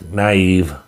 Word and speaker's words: Naive: First appearance of Naive. I think that's how you pronounce it. Yeah, it is. Naive.